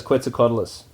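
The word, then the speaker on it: Quetzalcoatlus: to talk about is qu cadus that's how that's how you pronounce it right qua quadis Galis qualis that's right so if you imagine because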